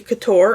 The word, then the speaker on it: Couture: I think it's Couture. I'm saying Juicy Couture in my head to make sure I'm saying it right, so it's Couture. That's how I know the word.